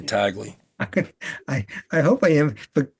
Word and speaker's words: Tagle: Uh, So you're going with Tagley. I am. Yeah, thanks for reminding me how that's pronounced. You better be right, because I'm going to start saying Tagley.